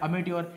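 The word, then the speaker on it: amateur: जर करत असाल तर त्याला आपल्याकडे शब्द आहे अमेट्युअर एम ए टी टी इ यु आर अमेट्युअर spelling लक्षात घ्या हे तुम्हाला करेक्ट करेक्ट स्पेलिंग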